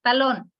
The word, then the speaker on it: talón: Nos dan aquí un ejemplo, colibrí, mirar, talón. Talón tiene dos sílabas, la sílaba tónica está en la última, que es lón.